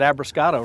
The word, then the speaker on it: Abruscato: And we already got a winner right now because Ising said Abruscato right. So I said it right. Start. Yeah. And Schultz I spelled with a C.